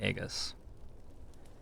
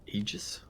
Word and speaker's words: Aegis: I've just inspired atomic EGIS to get a rock climbing gym membership it's an Aegis yeah I never pronounced that word right I'm terrible at it we're exactly above half